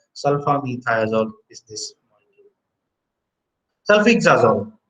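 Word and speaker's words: sulfisoxazole: Sulfixazole. So it is pronounced as sulfixazole, but however, this is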